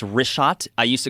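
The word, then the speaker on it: Richat: the photos of these concentric circles yeah the wrist shot r-i-c-h-a-t it's worth mentioning yeah in the first couple uh I just want to say it's wrist shot I used to call it rick hot I was mispronouncing it but let me ask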